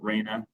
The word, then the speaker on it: Raina: right and am I am I pronouncing your last name correctly is it Raina yes okay all right uh